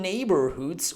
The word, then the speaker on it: neighborhood: GH sound are the GH sound is muted, so I don't have to pronounce it, and this O is followed by the R sound.